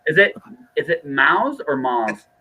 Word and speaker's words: Maus: retired navy guy so he says okay because he's got a lot of self-respect for me mouse just work actually mouse is the actual pronunciation of m-a-u-s so yeah that's why